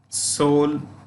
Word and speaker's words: Seoul: places you know Tokyo Seoul the E is silent Pyongyang typing usually we